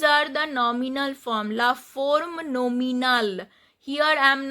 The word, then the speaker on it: forme: Here I am not pronouncing the E because the last E is not pronounced at the end of a French word.